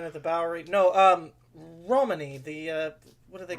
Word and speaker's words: Romany: think it's um Ro I've heard it pronounced both ways, but Romany is the way I heard it most commonly.